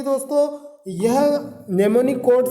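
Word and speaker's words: mnemonic: तो assembly language जो होती है दोस्तों यह नेमोनिक कोड से मिलकर बनी होती है। यहाँ इसकी स्पेलिंग लिखी है MEMONIC कोड, नेमोनिक कोड। जहाँ पे M साइलेंट है दोस्तों, तो नेमोनिक कोड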